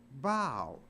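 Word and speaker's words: bough: you g h but it's not pronounced buff it's pronounced bow so even though a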